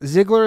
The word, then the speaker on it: Ziegler: Okay, so thank you for coming on the show, John Ziegler is how you pronounce it?